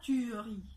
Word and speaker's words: tuerie: Il y a bien un E et pourtant on ne le prononce pas. On dit tuerie. On dit pas tuerie.